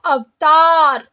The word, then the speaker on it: अवतार: Okay so இங்கே நீங்கள் வந்து பார்த்தீங்கன்னா தேர்ட் மட்டும் நீங்கள் ப்ரொனவுன்ஸ் பண்ணும்போது நீங்கள் வந்து பார்த்தீங்கன்னா தா அப்படின்னு நம்ம வந்து படிக்கணும். ஓகே ஜஸ்ட் த அப்படின்னு சொல்லாமல் தா அப்படின்னு நீங்கள் வந்து சொல்லணும். ஸோ அவ்தார்.